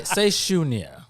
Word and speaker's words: Sunya: Real quick, say Shunya.